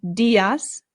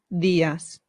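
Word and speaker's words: días: when using not using when making the D sound put your tongue right behind your teeth it softens the sound so instead of saying dasas it becomes theas buenos buenos excellent let's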